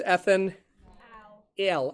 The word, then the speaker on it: ethanal: want to do is make sure you kind of hit those pronunciations this is ethanol and this is Ethan L and again that's what